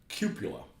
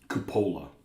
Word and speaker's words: cupola: I pronounce it cupula. Cupola. I always pronounced it cupula. And I've said it for so long, I don't know if I could be cured, so that's the wrong way to say it.